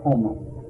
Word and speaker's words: Gomel: I have it marked down, but she was from Gomel, Gomel, or the way she pronounced it was Homo.